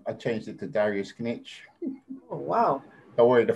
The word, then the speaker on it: Knetsch: congratulate you on that everybody even the english is saying niche but it's not it's rich no it's knitch you pronounce the k yeah yeah in the english language the k is silent oh yeah yeah but